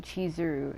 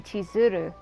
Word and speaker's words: Chizuru: say it like that I've never heard anybody say that name cheesuru it's usually you have to put an emphasis on the r it's supposed to be tizuru what the I've never